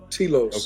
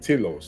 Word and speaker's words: Telos: Telos. Okay, there we go. Mount Telios. Yeah, Telos. Yeah. Telos. I said Telios.